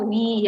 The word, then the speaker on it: oui: O-U-I itu selalu dibaca wi ya.